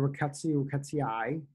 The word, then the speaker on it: Rickettsiaceae: So the family of Rickettsiaceae is how you pronounce it.